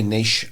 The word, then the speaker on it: niche: they Nish or niche nich or Nish is is it is Nish pronounced we say we say Nish Americans say nich didn't know that do